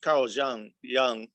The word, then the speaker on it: Jung: But also I'm a firm believer that we have to Carl Jung Actually Jung. Pronounce both ways.